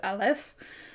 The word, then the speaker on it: Aleph: this one says that it's Aleph. This has the ah sound, and then it says order of one, pronunciation consonant, glottal stop, pronunciation vowel as in father, and then it shows